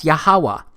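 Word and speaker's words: YHWH: H it's pronounced as yahuwah because it turns out that the language was so simple back then that it vocalized each consonant with an AA sound without specifically marking that sound between consonants so this yhw H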